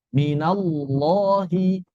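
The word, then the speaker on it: من الله: Bagaimana cara mengucapkan lam tebal? Cara mengucapkan huruf tebal sama saja. Seluruh huruf-huruf tebal diucapkan dengan cara menaikkan pangkal lidah dan menekan atau menyempitkan tenggorokan kita. Minallahi, minallahi. Bukan dibaca dengan monyong.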